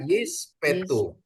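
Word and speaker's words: יִשְׁפְּטוּ: Ya, ini bacanya Yispetu. Jadi spa kedua itu dibaca E pendek. Spa yang depan itu mati ya. Spa silent ya, Bapak Ibu ya.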